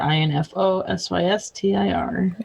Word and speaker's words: InfoSystir: At InfoSystir, INFOSYSTIR.